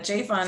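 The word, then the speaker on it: JFON: yes so uh jfun is the affectionate way we pronounce our acronym it stands for justice for our neighbors and it's a united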